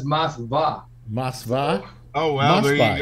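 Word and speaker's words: Moskva: Actually, in Russian, it's Mosva.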